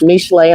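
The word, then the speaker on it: משלי: Now, before we start with Proverbs chapter 12, which is actually pronounced Mishle, I'm giving a little teaching.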